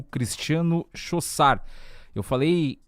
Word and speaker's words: Chaussard: Mas como eu não entendo nada de francês, por isso que eu citei errado antes aqui a pronúncia do sobrenome dele. Então é Chaussard, né, a pronúncia correta.